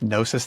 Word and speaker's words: Gnosis: Or it's underneath Gnosis Therapy with a silent G, so it's GNOSIS Therapy.